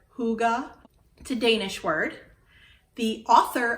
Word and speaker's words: hygge: you on a tour highgi hi higa hygge high g a lot of different ways that i tried saying it before i feel like i pronounced it correctly as hygge to danish word the